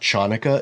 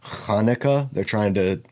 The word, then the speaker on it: Hanukkah: It's not Chanukah, it's Hanukkah.